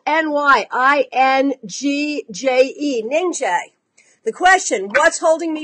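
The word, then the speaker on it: Nyingje: Okay, so the name is spelled N-Y-I-N-G-J-E, Ningjay.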